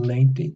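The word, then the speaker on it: noventa: On 90, remember all your V's are pronounced like a V, so 90. That's a B sound there.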